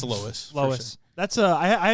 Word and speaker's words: Loess: how you say it Lois Lois like uh like Family Guy yeah I was on live on the way here and I said low s I'm like I really